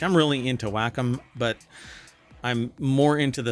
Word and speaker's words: Wacom: Um but uh it says here Waycom partners with Blender to enhance pen and touch tools for 3D creation across platforms. Whackom is what it's actually pronounced.